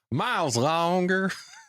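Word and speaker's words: Myles Lawnger: And it's spelled not how you would think it's spelled. It's MYLES and then space and then LAWNGER because he's got a 30 literacy. I love it. Longer. Miles Longer.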